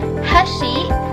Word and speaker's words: hashi: The canonical example is seen in the Japanese word for chopsticks, hashi, which has the accent on the first syllable.